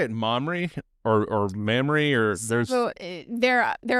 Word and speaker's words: Mamre: about um now, do you all say it mamry or or memory or there's So, there there are obviously different ways to pronounce it. Felt like where we live in the upstate, Mamray would be better received and more understood.